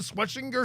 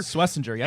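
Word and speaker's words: Schwesinger: How do you pronounce it? Sweetinger. Swissinger.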